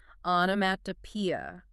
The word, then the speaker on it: onomatopoeia: Now, following that, another word that tests pronunciation, stamina, and understanding, onomatopoeia, pronounced on P-E-E-E.